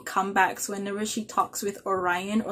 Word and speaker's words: Orion: And Orion, I'm guessing Orion is how you pronounce it because of Orion's belt.